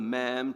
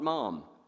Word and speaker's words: ma'am: in a conversation so you call her ma'am to rhyme with Jan not mom mom is the owner